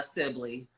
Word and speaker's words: Sibilly: I'm taking the whole hour with you uh Sibley I love that you pronounce my name right the first time it's